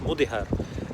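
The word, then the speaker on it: Mudéjar: would now be called Mudihar, spelled Mudijar in English but pronounced Mudihar. And this word Mudihar is actually from an Arabic word called Mudajjan, which means tamed.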